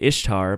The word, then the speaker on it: Ishtar: That Easter, the origins of Easter, the actual origins of it, there was a Babylonian god who was named Ishtar, but it's pronounced Easter. It's spelled Ishtar.